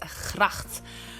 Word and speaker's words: gracht: In Dutch, the word for that water around the castle normally is gracht. I know it's a strange word with a very hard G in it, but a very hard G.